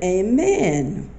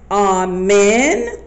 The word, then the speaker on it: amen: facts about the word Amen okay Christians say on men or amen and if you from the South then you say Amen hey man I think